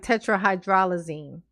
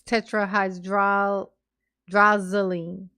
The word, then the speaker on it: tetrahydrozoline: Because I thought it was like tetrahydrolazine. It's tetrahydrozoline. I was mixing up the L and the Z.